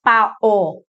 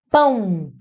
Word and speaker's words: pão: E o outro, você não pronunciou pao. Pao. Você pronunciou pão. Pão. Não é pau. Pau. É pão. Esse O tem som de U.